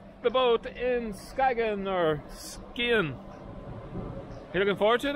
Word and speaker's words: Skagen: So today we're going to a town called Skagen, or as the locals pronounce it, Skien.